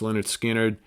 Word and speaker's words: Lynyrd Skynyrd: the first montrose album beats out Lynyrd Skynyrd's pronounced Lynyrd Skynyrd and queens self-titled for my runner-up spot all